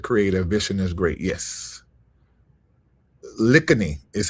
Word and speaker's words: Lakhiani: Lakhiani, is how you say it? Vishen Lakhiani, okay.